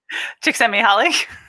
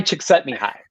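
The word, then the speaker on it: Csikszentmihalyi: do you know what i'm going to say chick sent me holly yes i want i want to hear you say it knee high chick sent me high that's what i yeah i listen to audio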